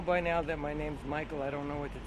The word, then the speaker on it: Mikole: now that my name's Michael I don't know what to tell you no I when I see the spelling it's m-i-k-o-l-e I love it it works phonetically right that's perfectly correct right